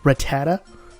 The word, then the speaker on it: Rattata: commented and said that it's pronounced Rattata again I I don't